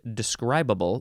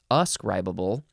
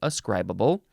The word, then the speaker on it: ascribable: would call it or you would pronounce it describable no us scribable capable of being attributed synonym is ascribable and this is used